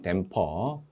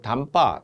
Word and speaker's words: 댐퍼: 댐퍼. 현장에서는 댐퍼를 일본식 영어 발음으로 담빠 그렇게 하는데 틀린 발음으로 하시면 안 되고요. 댐퍼.